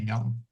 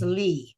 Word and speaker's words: Lee: Um, and the politician's name is Eye. E meaning Lee. Well, actually, yeah, Koreans uh don't don't pronounce that L, but you know, for those who are listening, it's Lee.